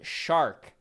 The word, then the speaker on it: Shark: It's pronounced shark like Charlotte. Shark.